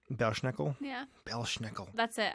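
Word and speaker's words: Belsnickel: Bell snickle Bell snickel I'm not sure if it's Bell snickle or B schnickle but just to avoid ladder but I don't I want to avoid the tragedy in case that's not how it's pronounced so Bell snickel is uh from German folklore it's definitely the latter Bel schnickel yeah Bel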